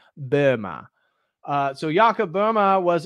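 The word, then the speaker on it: Böhme: next one um Jacob Burma Yucca Burma so I don't speak German but I know that you're technically supposed to pronounce his name Burma uh so yakub Burma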